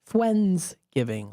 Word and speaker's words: Fwensgiving: And yes, Fwens spelled with a W for Wens. Fwensgiving, like a Wednesday, Friendsgiving on a Wednesday, so it's Fwensgiving.